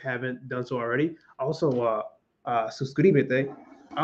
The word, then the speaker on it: suscríbete: And last year, I'm telling you, it was incredibly challenging to say this word because suscri, like that transition from su to cri, like I could not do it.